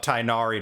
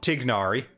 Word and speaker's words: Tighnari: a let's take or tignari that's going to take some time to get used to not pronouncing the igh as a i sound once again one of